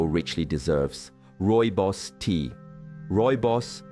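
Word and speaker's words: Rooibos: Roy Boss, pronounced Roy Boss, is an elegantly caffeine-free herbal infusion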